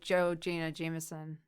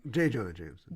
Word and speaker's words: J. Jonah Jameson: Like Joe Jonah Jameson. Close. How did I say his name? J. Jonah Jameson.